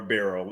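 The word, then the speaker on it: Birrell: there you go so Kimberly barl is how or barl is how they pronounce it and unfortunately yeah yeah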